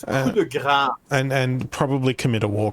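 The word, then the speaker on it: coup de grâce: Pronounce it properly. It's coup de grace.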